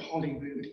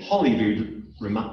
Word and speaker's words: Holyrood: of the holy root so today we would say hollywood sort of rhyming with hollywood but really it's actually come from the holy group it's it's an interesting